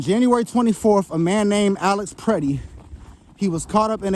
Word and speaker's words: Alex Pretti: It was a man named Alex PRETTI. Okay, not Alex Pretty and not Alex Petty. I see a lot of people mispronouncing and it's Alex PRETTI.